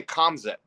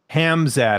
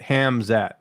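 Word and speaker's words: Khamzat: you pronounce that guy i always say calms it hamzad i think is how you say it hamzat okay he's a pretty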